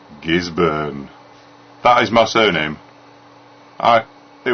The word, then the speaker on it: Gisburne: by the way, and anybody, by the way, this is how to pronounce it. Gisburne, not born. Gisburne 2000. So it's not Gisborne or Gisburne or Ginsberg.